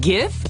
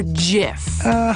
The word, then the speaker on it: GIF: That's less time than you spend arguing about how to pronounce GIF. Wait, GIF or JIF? Hard G.